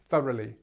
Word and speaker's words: thoroughly: So you've got this silent sound of GH, which you know, I'm sure, comes in many different words in English, but in this case, we will just show you how it works. So here we start with th, so we have this up sound again, thorough, as in our, so thorough, and then li. So this whole part here becomes this, okay? Thoroughly, thoroughly, thoroughly. Try again, thoroughly.